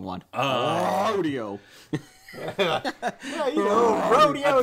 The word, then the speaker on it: Rodeo Drive: That doesn't even get her on Rodeo Drive. Allegedly. I think that's called Rodeo Drive. Rodeo Drive. We're not Canadian. Rodeo Drive. You put the accent mark above the wrong one. Rodeo.